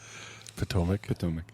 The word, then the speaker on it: Potomac: Potomac. Oh, my God. I love you. I was just gonna let it out there. I wasn't gonna say anything. Potomac? Yeah. Like big toe.